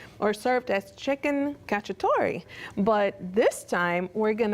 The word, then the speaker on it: cacciatore: cacciatore yes that's how you say it is cacciatore okay chef I am learning thank you so